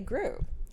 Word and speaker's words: Groux: Today I have Renee Gru. Hi. Did I Did I pronounce that right?